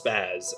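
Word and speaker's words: SPAS: zombies or just because spaz S P A S is pronounced as spaz S sp a z.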